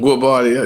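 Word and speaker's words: Guobadia: Gabodia, you're right.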